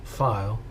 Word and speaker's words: Pfeil: uh this is the dorer do335 file uh it's it's spelled PF L you'll know the airplane